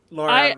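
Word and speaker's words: Lara: Yeah, Laura rhymes with Cara.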